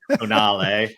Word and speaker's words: Tonale: Tonale.